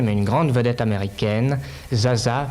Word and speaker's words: Zsa Zsa: une grande vedette américaine zsa zsa plus t'il plus exactement prononce geagea gabor reds à gabor pour